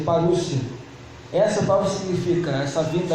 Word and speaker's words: parousia: que essa palavra vinda, ela é parousia, que se pronuncia parúcia.